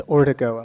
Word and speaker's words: Ordigo: with some embarrassment that I mispronounced your surname it's ordigo I'm sorry about that